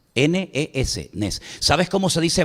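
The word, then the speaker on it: נס: Nes. Nes. N e S.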